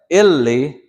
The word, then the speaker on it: Illi: Illi, it sounds like illi, but this is Ili. So you hear the difference? This is Ili. But to die or to be dead is Illi. Illi, which is spelled Illi. Two L's. You hear that consonant's being held out?